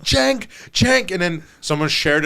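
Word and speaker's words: Cenk: And then people are like, "Bro, bro, his name is Jenk." Oh my god. It's spelled it's it's you say Cheng. Like it's like it's like a Turkish way of pronouncing the name.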